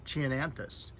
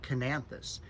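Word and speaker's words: Chionanthus: in the nursery industry we've always pronounced it chienanthus and the other person pronounced it with a K like knanthus and it was just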